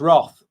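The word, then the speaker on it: Rothe: And again, I think Oh, it's pronounced Roth like Tim Roth.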